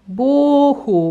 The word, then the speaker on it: Boohoo: Cioè, come si scrive? Eccolo qua. Boohoo, B-O-O-H-O-O, molto semplice.